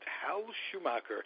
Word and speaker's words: Hal Schumacher: It's entitled, it's the biography of Prince Hal Schumacher. That's the way to pronounce it. Hal Schumacher. His name is Roger Melin.